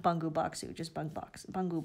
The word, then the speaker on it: Bungu Box: sweet potato purple sorry the proper pronunciation is bungu box so I will make